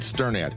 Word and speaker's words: Sternad: Hi, I'm Sternad and you pronounce my last name like you are stirring a pot.